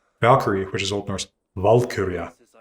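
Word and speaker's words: valkyrja: But in fact, Vura emphasis strongly on the first syllable just like Evald.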